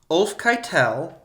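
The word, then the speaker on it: Ulfcytel: Another legend is that it was named after Ulf Kettle. Sorry. You tried to make that so fancy. No, it's spelled like Ulf Keitel, and I was like, no, that sounds like Harvey Keitel.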